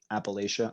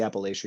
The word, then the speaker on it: Appalachia: these people from appalachia i say appalachia you see appalachia right but yeah i think it goes both ways i'm from pennsylvania the gold region of pennsylvania so yeah our pronunciation is probably a little bit different appalachia appalachia yes yeah uh these people